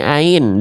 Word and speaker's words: ع: Kita ngenal bentuk hanya kenal ini ain, dibacanya a, i, U. Nah, tapi ininya diloncat. Nah, Teman-teman harus pahami. Enggak harus dihafalkan istilahnya, tapi tahu kaidahnya. Ain itu dilafalkan dari tenggorokan bagian tengah. Istilahnya wastul halqi, tapi enggak dihafalkan juga enggak apa-apa.